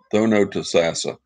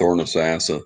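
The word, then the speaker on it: Thonotosassa: darn ramp Lake tho Tassa that's how you pronounce it thos tho to sassa tho to sassa that's the right way to pronounce it I used to call it thoros sassa thoros sassa real fast I say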